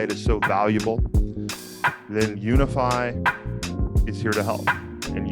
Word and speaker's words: Unifi: to you by commerce say it with me now unify commerce yes guys that is spelled u n i f i commerce dot com guys unifi